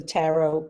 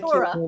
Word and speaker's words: tarot: And that's my first experience with the tarot cards. Is that how you pronounce it, tarot? Yeah. Or tarot. Yeah. Tarot. I was working on the Not psyche. Torah. Not Torah. Not Torah. No, not Torah.